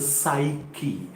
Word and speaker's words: psyche: psyche s yes c h e it is pronounced psyche something in the modern psyche means mind okay